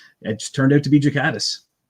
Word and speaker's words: Ghikadis: No, it's Jakatis. It's a it's a soft G.